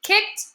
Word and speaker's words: kicked: We have the word kicked, but that's actually 1 syllable because ED kind of makes the sound here, right?